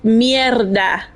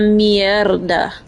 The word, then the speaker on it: mierda: It's mierda. Not mierda. Like, say it like you mean it, like you just stepped on it.